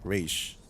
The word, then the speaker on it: Ra's: Yesterday, I took a deep dive into Ra's al Ghul, apparently pronounced Raish.